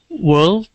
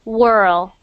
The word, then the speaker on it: world: perfect good next one world world world okay world world world good perfect good um because I don't want it to sound like whirl whirl because that sounds like